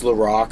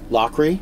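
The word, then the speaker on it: Loughrey: So better videos, helping for everyone, paying for the co-producer, basically like James LaRock, who's his name's James Lowry. Do I pronounce that right? How do you pronounce it? Lockery.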